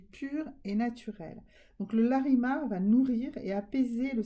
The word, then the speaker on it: larimar: Alors, on va prendre le larimar, d'accord? Larimar, L-A-R-I-M-A-R, ça se prononce.